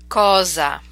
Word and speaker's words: cosa: practice that sound again this is the single s between vowels to make that Z sound cosa spezzo dosa DeFazio Casa